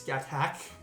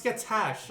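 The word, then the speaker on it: Scáthach: Hey, there's Skatak. That's how you pronounce that. No, it's Skatash or something like that, isn't it?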